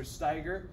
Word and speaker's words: Steiger: first things first is my name is pronounced mr steiger that's s tiger like the animal which you see here